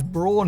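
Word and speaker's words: Braun: And before you comment, yes, it's marketed as Brawn here in the UK, despite Brown being the technically correct pronunciation to my understanding.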